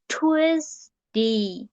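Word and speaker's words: Tuesday: টুয়েসডে, TUES, এখানে আমি pronunciation যখন করব TUZ, twice, DAY, DEI, ডে। টুয়েসডে, টুয়েসডে, টুয়েসডে।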